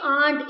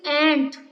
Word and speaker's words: aunt: Don't speak aunt. It is ant. Speak, pronounce it correctly, beta.